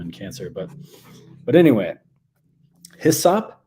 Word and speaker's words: hyssop: cancer but but anyway hissap sometimes pronounced esap um and that comes